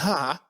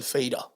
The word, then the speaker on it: Fattah: It's Abdel Pronounced correctly. Fattah and not Abdel Fader.